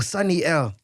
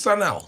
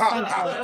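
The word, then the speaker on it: Sun-EL: You said Sunny L. It's Sanel. Sun Just because I can't pronounce him. No, it's Sun L.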